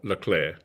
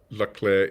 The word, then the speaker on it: Leclerc: But yeah, definitely we're getting information that the second C is silent. Yeah, fair enough. So what do you guys think the Leclerc is going to bring to the French?